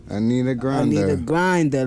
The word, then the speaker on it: Anita Grinder: How we pronounce this? Anita Grinda? Anita Grinder. Like I need a grinder.